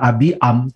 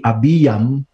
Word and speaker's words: Abiam: ya Abi ya menjadi bacanya bukan abiam tapi Abby yang lalu kemudian di dalam